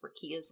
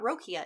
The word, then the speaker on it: Rakia: know how to pronounce rakia's name it's not rokia it's rakia the rat god also i didn't like